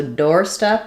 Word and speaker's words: doorstep: Um, so doorstep is a compound noun, a noun that's made out of two nouns together, which means it's going to have first syllable stress, but secondary stress on the second syllable, meaning we still have a clear vowel there.